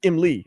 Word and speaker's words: Emlee: But it's pronounced Emlee. I looked it up.